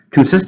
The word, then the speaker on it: consist: Consist of is what something is made of. It's a verb. And consist has two syllables, stresses on the second. Consist.